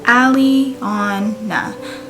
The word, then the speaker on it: Aliana: on my list was aliana and that name means beautiful lovely and it's pronounced ally on nah so i thought it